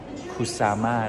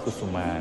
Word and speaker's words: Kusama: So the artist name is Yayoi Kusama not Kusuma. Haha.. Kusuma is like a Thai name.